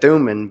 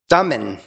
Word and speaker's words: Thummim: And so it's five lessons from the Urim and I was said Thummim, but Thummim. I Googled, so I had said it wrong all these many, many times. Thummim, like you're thumbing for a ride.